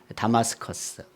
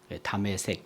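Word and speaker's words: Damascus: 그 시리아의 수도가 다마스커스. 네. 우리는 다메색이라고 그렇게 발음을 하죠. 다메색 다마스커스.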